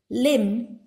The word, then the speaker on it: limb: Limb. Once again, burr is silent.